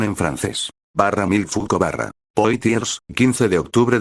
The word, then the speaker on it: Michel Foucault: Paul Mel fou pronunciación en francés bar mil fuco bar poitiers 15 de octubre de 1926 París